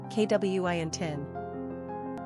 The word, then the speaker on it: Quintin: Number of syllables, 2. Ranking popularity, 853. Pronunciation, KWINTIN.